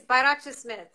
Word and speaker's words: Bayrakcismith: you pronounce your last name i i can't pronounce it you can't yeah i'm struck yeah it's byrocha smith barack schmidt smith i stick with that